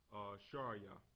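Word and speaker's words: שרי: In Hebrew, it's pronounced Sharia.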